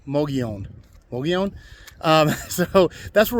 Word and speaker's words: Mogollon: l l o n the two L's make a y sound so MOG Leon Mion Mion um so that's